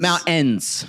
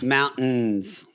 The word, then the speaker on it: mountains: There's no T in it anymore.